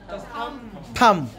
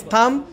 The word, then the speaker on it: thumb: और थम, नो बी, थम, thumb, right pronunciation is thumb.